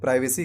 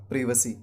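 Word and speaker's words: privacy: प्राइवेसी नहीं करते हैं प्राइवेसी कहना गलत है इस वक्त सही उच्चारण होता है परिवर्ती हां यूएस में लोग प्राइवेसी जरूर करते हैं बट इंडिया में ब्रिटिश इंग्लिश चलता है हम इंडिया में ब्रिटिश इंग्लिश बोलते हैं इसलिए ब्रिटिश इंग्लिश में ही इसका उच्चारण करना सही है तो ब्रिटिश इंग्लिश में इस का सही उच्चारण होगा प्रिवसी तो आज के बाद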